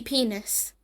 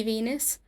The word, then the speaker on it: Venus: moments of character development risky penis in their song risky Venus poor poor crazy V mispronounce Venus as penis due to the letter V not occurring in the Japanese language and being substituted for the letter P Puka Puka this is